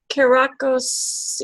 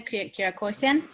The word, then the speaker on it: Kirakosian: Did I pronounce that right? That's correct. Joel Calderon. Yes. Kirakos, you say it for me. Kirakosian.